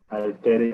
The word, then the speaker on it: Aitareya: Prashna, Mundaka, Upanishad, Prashna, Mundaka, Upanishad, Mandukya Upanishad, Taittiriya Upanishad, Taittiriya Upanishad, Aitareya Upanishad, Aitareya Upanishad, Aitareya, Aitareya. That's how I spell it. Aitareya Upanishad. That's my pronunciation.